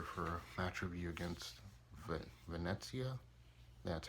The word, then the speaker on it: Venezia: Buzz back here for a match review against Venezia. That's how you pronounce them.